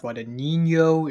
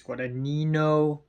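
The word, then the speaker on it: Guadagnino: directed by Luca guadino apparently it's not guadino it's guadino I don't know I'm sorry I'm not Italian I can't pronounce it right so Luca guadino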